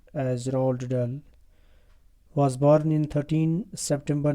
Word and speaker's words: Roald Dahl: about the author dear students roald dahl commonly pronounced as roald dahl was born in 13 september 1916 and he died in 23rd november 1990.